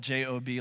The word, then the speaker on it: Job: Old Testament um and his name is spelled j-o-b like job but we we say job but um there's this